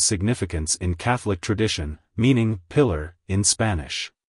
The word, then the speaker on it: Pilar: in Catholic tradition meaning pillar in Spanish it's pronounced as parar pillar pillar to pronounce it correctly emphasize the first syllable and roll the r sounds slightly like hello par goodbye